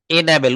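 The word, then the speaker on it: enable: এনাবেল উচ্চারণটা হবে এন, এন, হ্যাঁ।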